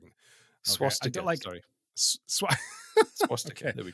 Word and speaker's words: swastika: of this word, but it is not swastika, like swashbuckling. Okay? Swastika, sorry.